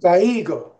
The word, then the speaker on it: caigo: No, I was just gonna say there's no accent above the I, so you want Oh, okay. to. So in this case, you want to say the I like caigo, right?